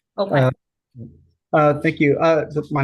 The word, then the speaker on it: Opheim: Yeah, Apologize if I mispronounced your name. Opheim. Opheim.